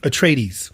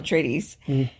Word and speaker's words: Atreides: it does tell about paul which i can't pronounce his last name can you atrees okay thank you paul tradies a brilliant and gifted young man born into